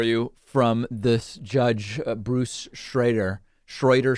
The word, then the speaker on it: Schroeder: bruce schroeder schroeder schrader everybody tells me a different every time i pronounce it one way i get an email saying it's the other one so i'll say schreider kind of a middle middle ground on him in the kyle rittenhouse